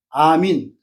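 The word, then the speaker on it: ἀμήν: 이런 현상이 아멘도 아멘이 아니에요. 아민.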